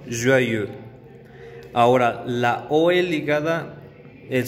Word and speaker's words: joyeux: Y feliz, para decir feliz cumpleaños, feliz aniversario, joyeux. Joyeux. Entonces, la E marcada con labios redondeados siempre se va a encontrar cuando tengamos alguna palabra que lleve el diptongo EU. Heureux. Joyeux.